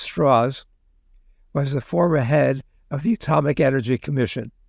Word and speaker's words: Strauss: Strauss, spelled Strauss but pronounced Strauss, was the former head of the Atomic Energy Commission.